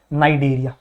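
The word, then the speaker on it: Cnidaria: को भूल जो और सिर्फ क्या याद रखो नाइजीरिया ठीक है तो नाइट एरिया इसको प्रोनाउंस करना है क्यों कहते हैं भैया क्योंकि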